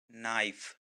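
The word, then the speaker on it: knife: चाकू को हम इंग्लिश में बोलते हैं नाइफ। नाइफ। इसमें के साइलेंट है।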